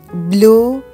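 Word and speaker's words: bleue: مذکر بلانش سفید مؤنث بلو آبی مؤنث یه او آخرش اضافه میشه تلفظش تغییر نمی‌کنه وق سبز مؤنث یه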